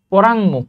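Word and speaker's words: পরাঙ্মুখ: অপশনটা ভুল লিখা আছে পরাং মুখ পরাং মুখ এটা হচ্ছে এটার সঠিক উচ্চারণ ওকে আমরা যদি কৃত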